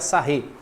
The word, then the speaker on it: Sarrus: A regra de Sarré se escreve assim mesmo, tá, pessoal? Sarrus, se pronuncia Sarré.